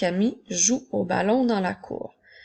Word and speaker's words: jouent: lorsqu'il est au pluriel nous allons ajouter les lettres NT qui seront des lettres muettes alors nous ne dirons pas jouant mais bien jouent plus que nous entendons